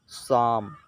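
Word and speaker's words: psalm: नहीं पड़ेंगे इस साइकोलोजी पढेंगे साइकोलोजी इसी तरह शाम इसे आसाम मत पड़ना ही क्योंकि यहां पर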